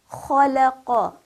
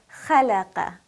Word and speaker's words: خلق: Notice that I did not pronounce it as khalaqa. That would be incorrect because I'm giving it a light quality instead of the heavy quality that kha has.